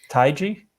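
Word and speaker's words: Taigi: what's the last name taiji uh yeah yeah it's not depends but yeah taiji's the typical pronunciation oh what uh she's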